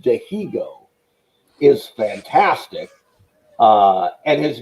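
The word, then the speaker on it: Dihigo: eternal baseball this guy martine that's pronounced de hego is fantastic uh and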